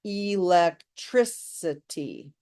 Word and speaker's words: electricity: Electricity has 5 syllables, and we emphasize the 3rd, electricity. So electricity, automaticity, they sound similar, right?